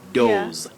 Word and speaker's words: doze: But the lower word, Betty, you say now doze. That is a verb. That is to sleep slightly, usually for a short time. You say to doze. Doze.